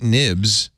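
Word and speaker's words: Knibbs: story uh where uh Kate nibs I think that's how you pronounce it k-n-i-b-b-s it could be cake knibs writes Apple's Vision Pro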